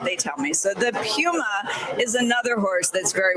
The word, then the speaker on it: Puma: It's not really a correction because it's so minor, but it's supposed to be Pew as in P-E-W as opposed to Poo as P-O-O. Okay. Apparently, that's what they tell me. So the Puma is another horse that's very workmanlike.